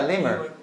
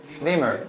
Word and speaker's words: lemur: what is it yeah lemur lemur it rhymes with the BOA and your leg femur so there is a